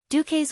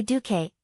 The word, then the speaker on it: Duque: In my hometown, the pronunciation of Duque is Duke. In the common language, it means Duke. One day Duque, the first Duke.